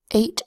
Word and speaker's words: eight: and a T sound which means that the e doesn't make any sound at all it's silent it's a silent final